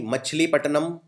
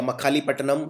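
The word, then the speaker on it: मछलीपट्टनम: वो सूरत में लगाई मछली पटनम या मखली पटनम इसको जैसे भी प्रोनाउंस करना चाहे आप या नाग पटनम या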